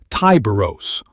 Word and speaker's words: Tyberos: The chapter master, Tyberos the Red Wake, that's Tyberos, audience corrected, per the pronunciation frustration on the cryo-vault video, wields twin